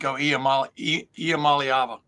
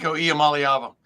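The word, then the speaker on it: Iamaleava: imala okay I'm just going to let you pronounce it for me niik ialam malava there you go niik IAM malava I'm usually pretty good at that like I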